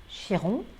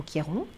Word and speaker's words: Chiron: des poissons conjointe à chiron ou quiron on le prononce comme on le souhaite le guérisseur gérons c'est